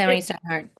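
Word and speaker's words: Steinhardt: Yeah, I went to Steinhard.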